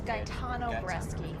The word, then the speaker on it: Gaetano Bresci: It's Gaetano Bresci.